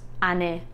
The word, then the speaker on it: Ane: a beautiful name um if it's pronounced ane and spelled like this number 14 isaro this